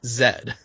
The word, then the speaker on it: Z: Because it's Dragon Ball Z, except in Canada, Z is pronounced Zed.